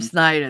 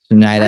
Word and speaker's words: Schneider: he the jiggalo Rob Snider there we go or Rob Schneider I should say Schneider how you say his